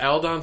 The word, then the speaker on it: Aldon: Aldon. Aldon. Alan Don. Aldon. Aldon. His dad was Al. His dad's dad was Don. It's Al Don.